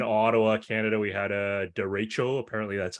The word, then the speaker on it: derecho: We had a derecho, apparently that's how you pronounce it, a derecho storm.